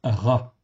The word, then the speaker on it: רע: Donc, Resh Aïn avec un patar en dessous, en fait ici, c'est le petit tiret que vous voyez, ça se prononce Ra, en fait ici, tout simplement.